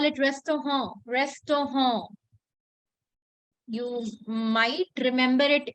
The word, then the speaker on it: Restaurant: It's just that restaurant is a foreign word. It doesn't come from German. So the pronunciation is a little bit fancy. We call it restaurant.